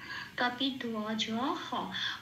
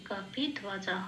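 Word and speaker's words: কপিধ্বজঃ: জন্য ও প্লাস অ, বয়ের উচ্চারণটা ও প্লাস অ সেই জন্য ধোয়া বলতে হবে। কাপি ধোয়া জ হ, হ কেন শেষে, পংক্তির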